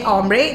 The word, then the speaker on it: hombre: H is silent. So you say hombre, that is for guys.